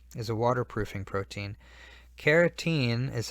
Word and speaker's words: carotene: is a waterproofing protein carotene is how I say this so I stress that it's different from keratin carotene sounds almost like carrot and a carrot is